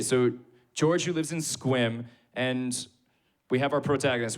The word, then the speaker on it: Sequim: nowhere what was the place called so it's pronounced Sequim but it's spelled s e q you I